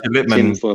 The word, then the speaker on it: Lipman: Sajid Lipman jumps into my chat sometimes and drops a super chat. And you still can't pronounce his name properly.